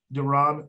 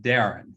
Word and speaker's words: Deran: to brother and dr duran whitney thank you john thank you so much for that introduction the only correction that i'll have is uh the pronunciation of my name is darren and everybody messes it